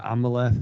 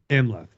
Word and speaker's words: Amleth: and we see that progression with is it Amaleth? Is how you say his name? But Amleth.